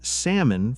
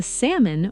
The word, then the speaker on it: salmon: I ordered salmon for dinner. The salmon was delicious. Now I understand why I never heard native speakers say the L.